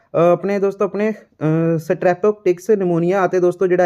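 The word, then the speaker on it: pneumonia: तो दोस्तों देखो इसका जोड़ा है ना, यह पी जी है साइलेंट रहेगी, यह निमोनिया बनेगा, पिनोमिया नहीं बनेगा, ये निमोनिया जी बीमारी होंगी है।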